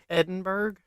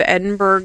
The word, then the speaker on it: Edinburg: pronounced for in Iowa Edinburg it's Edinburg but it's not pronounced that way it's pronounced like Edinburgh so but I'm going to say it how I think people in Iowa would say it as Edinburg um so the town